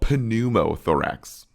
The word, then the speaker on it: pneumothorax: Hemothorax versus pneumothorax, which I call pneumothorax, but the P is silent there.